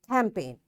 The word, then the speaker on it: campaign: Foreign, sign, align, resign, assign, rain, clone, campaign. Okay, now my dear students, you see in all words we are not pronouncing this G.